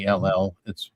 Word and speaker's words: Niall: It's Niall.